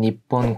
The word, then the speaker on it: 日本: 이 일본 항공사와 ANA라고 부르는 젠 니폰 쿠유라는 항공사가 있습니다. 이름이 좀 어렵죠. 여기서 일본을 읽을 때는 니혼이라고 읽지 않고 니폰이라고 읽어주셔야 되고요.